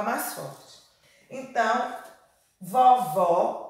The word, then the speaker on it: vovó: o leque presta atenção vó acento agudo ó vovó vovó o acento circunflexo vovó aberto vovô fechado o ó e vovó